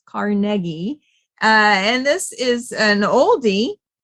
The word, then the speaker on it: Carnegie: It's not pronounced Carnegie. It's Carnegie.